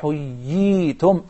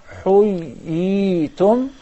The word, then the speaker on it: حُيِّيْتُمْ: Allah the Almighty says, وَإِذَا حُيِّيْتُمْ حُيِّيْتُمْ. You see, we explain there are two ya's, and that will be accomplished through prolonging the first ya to harak. حُيِّيْتُمْ.